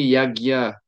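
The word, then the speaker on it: यज्ञ: si je peux dire, ça se prononce comme un GN, c'est comme Gia euh dans sanscrit Yagia.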